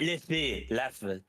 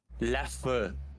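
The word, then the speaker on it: Leffe: Stout some Stout Ley it's not Le F oh my God what how do you say it laugh not Le but is it it's e f no it's l e FF e exactly that's what I said so double f is short you have to you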